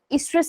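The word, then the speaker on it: oestrus: तो ये cyclic changes का नाम है एस्ट्रस साइकिल, एस्ट्रस साइकिल कहते हैं हम इसको, ओ साइलेंट होता है।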